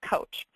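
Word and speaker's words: Kocs: So it's spelled K-O-C but pronounced coach.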